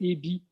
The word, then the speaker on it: Aebi: Eby étant un nom très suisse, ça s'écrit A-E-B-I. Oui, A-E-B-I. Les Français ont un peu de la peine avec ça, mais c'est pas grave.